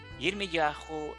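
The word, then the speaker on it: ירמיהו: en nombres propios como Yirmiyahu o como Yeshayahu. Yirmiyahu es como se pronuncia realmente el nombre de Jeremías y Yeshayahu es como se pronuncia en hebreo el nombre de Isaías.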